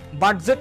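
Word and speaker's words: budget: যখন আপনি উচ্চারণ করবেন দেখুন ডিটা কিন্তু সাইলেন্ট বাজেট কিন্তু কেউ বলে না আমরা বলি বাজেট মানে ডিটা একদম উচ্চারণ করার জন্য ওই সময় আপনার ডি যখন আসবে তখন আপনি মিউট হয়ে যাবেন আপনার ভয়েসকে মিউট করতে হবে আপনি বলবেন বি ইউ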